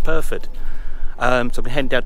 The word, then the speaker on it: Pyrford: to P PR perod it's called perod I was calling it pford it's perod pronounced perfed um so I'm heading